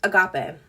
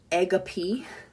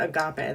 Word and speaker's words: agape: so sorry okay um the fourth one is agape I've heard it pronounced egap but that is not how I pronounce it she asked Lewis pronounces it egap but I pronounce it Agape that's how I've heard everyone else pronounce it